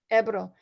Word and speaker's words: Ebro: you say the river um amanda is it ebro april ebro uh and then there's a few other little